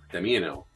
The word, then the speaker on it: Damiano: So Miss Shinobi as well as Kinsatics were helping me with my pronunciation. I have to admit that it's Damiano as the warcaster for the Steelheads, and also the other one that I have to admit I butchered.